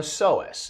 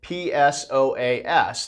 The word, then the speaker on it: psoas: what we call the psoas and that's spelled p-s-o-a-s the p is silent but we say psoas so um it's it's